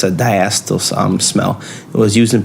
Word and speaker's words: diacetyl: One of the ones that we found out some information about is the diacetyl. That's how you say it, diacetyl. I think it's diacetyl.